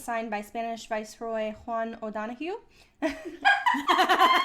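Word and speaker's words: O'Donojú: On April 24th, 1821, the Treaty of Cordoba was signed by Spanish Viceroy Juan O'Donoghue. And it's spelled with a J. It's great. It's O-D-O-N-O-J-U. That is... With an accent.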